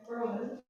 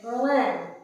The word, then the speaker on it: Berlin: Berlin. The emphasis is on the B.